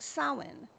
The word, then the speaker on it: Samhain: Celtic culture, and it was a holiday called Samhain. Now, I want to make a note of pronouncing it correctly because it's spelled Samhain, but it's pronounced Samhain.